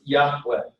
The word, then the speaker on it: Yahweh: give without the Bach and originally it was pronounced Yahweh or is go home to that originally yeah